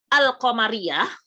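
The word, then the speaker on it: القمرية: Jadi alif lam ma'rifah itu ada al-qamariyah. Ya, jadi lamnya, lam di sukunnya itu terdengar lam, terdengar al gitu ya.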